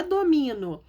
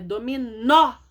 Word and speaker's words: dominó: Sem acento fica domino. Domino. Não é domino, é dominó.